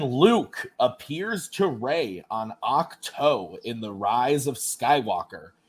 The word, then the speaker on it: Ahch-To: When Luke appears to Rey on Ahch-To in The Rise of Skywalker, she has just destroyed what?